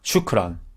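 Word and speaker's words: شكرا: 이걸 샤프란으로 처음에 공부하신 분도 있는데 뭐 그런 식으로 공부해서 익숙해지는 게 중요하지 않겠습니까? 일단 근데 나중에 아랍 분을 만나셨을 때 샤프란이라고 하지 마시고 샤프란이라고 하면 또 이게 뭐라고인지 모를 수 있으니까 슈크란이라고 그때는 해주시기 바랍니다.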